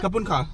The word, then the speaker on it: ขอบคุณค่ะ: ขอบคุณค่ะ ขอบคุณครับ Kapun ka.